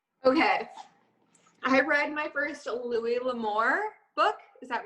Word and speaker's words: Louis L'Amour: I read my first Louis L'Amour book.